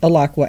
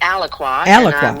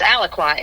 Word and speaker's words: Alaqua: So, um, let's kind of start out with, uh, what inspired you to start Aqua Animal Refuge back in, I guess it was what, 2007? Yes. It's actually Alqua.